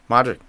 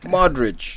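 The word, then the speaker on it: Modrić: Madrid reportedly interested in Christian Eriksen, but they don't want to push the button yet because Modric is still on top of his game.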